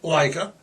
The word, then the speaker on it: Laika: Leica. It's spelled L A I K A. It's Russian. It's pronounced Leica.